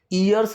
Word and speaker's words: years: ठीक है, इसकी प्रोनाउंसिएशन का भी ध्यान रखो, ईयर्स नहीं बोलना है, य से आवाज़ आएगी, ईयर्स।